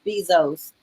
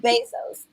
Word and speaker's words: Bezos: I mean, I think about the story of Jeff Bezos' parents who helped him to start Amazon. Is it Mhm. Bezos or Bezos? I always think about this. Basically. Bezos.